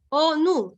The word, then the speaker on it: ONU: ONU. Está silabeando, ahí hay 2 sílabas. ¿Sí? ¿Se entiende? Pero si yo digo FBI, no, ¿no? ¿Sí? Si yo digo ONG, ahí no. No lo puedes silabear.